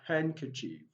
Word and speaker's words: handkerchief: find silent letter d silent letter d in english words we have handkerchief and ketchi now from the pronunciation of that word you discover that letter d is not pronounced silent and k chief